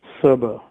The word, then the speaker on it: Cerber: The authors behind Cerber, or Kerber, which different people pronounce it differently.